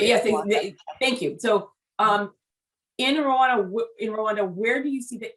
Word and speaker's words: Rwanda: the way, I say Rwanda, but you say different. I say Rwanda. Yeah, that's how the R and W is pronounced in Kinyarwanda.